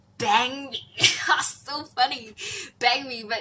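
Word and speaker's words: bánh mì: You will always read it as bun mi, but it's not bun mi. Like according to my friend, they pronounce it as bang mi, like bang me.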